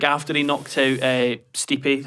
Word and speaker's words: Stipe: Someone said that's like after he knocked out Stipe, how he pronounced his fucking name, called me a fucking casual. Everyone was like, It's actually Stipe.